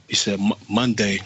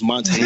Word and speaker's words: Monta: The baby looked up at the guy, and he said Monday, like he was saying Monday, but his name is Monte. It's Monte Ellis. So the baby couldn't pronounce Monte right.